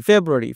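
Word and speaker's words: February: দেখ জানুয়ারি জানুয়ারি দেখো যা এইটা তোমার একটু জোরে বলতেছি জানুয়ারি একইভাবে ফেব্রুয়ারি ফেব্রুয়ারি ফে এটা হল জোরে বলতেছি ফেব্রুয়ারি ফেস মার্স এটা পুরোটাই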